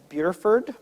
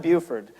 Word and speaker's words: Burford: Richard was born in a place called Burford. It's not Buford.